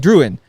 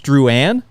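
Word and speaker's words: Drouin: so You' be like druin but really with the like French Canadian way of pronouncing it it's drwan ah like there's no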